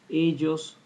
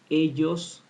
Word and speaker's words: ellos: L, I pronounce it ellos, and sometimes I say ellos or ellos. This depends on the country of the speaker, right? In my country, Uruguay, as well as in Argentina, we pronounce it ellos or ellos, right?